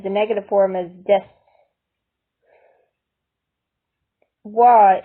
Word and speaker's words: は: Wa in de wa arimasen should also be pronounced wa, not ha.